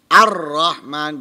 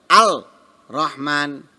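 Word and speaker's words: الرحمن: 2 dijadikan satu dengan tasydid ar-rahman Berarti seakan-akan ada dua roknya ar-rahman Hai Nah kalau dia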